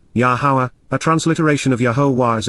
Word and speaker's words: Yahowah: Baha yamha shishi during the third day yahwah yahwah the proper pronunciation of yahwah our eloa God has directed